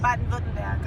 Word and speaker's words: Baden-Württemberg: It's called Baden-Württemberg.